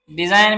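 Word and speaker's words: design: Doubt में देखें B silent है, सटल में बी साइलेंट है, डिजाइन में इसका जी साइलेंट है, साइन में देखें कि इसका जी जो हमारे पास वो साइलेंट है।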